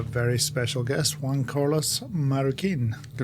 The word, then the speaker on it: Marroquin: Today we have a very special guest, Juan Carlos Marukin.